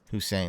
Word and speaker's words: Hussein: there all right so my name is spelled Hussein by the way who's saying like that and you know if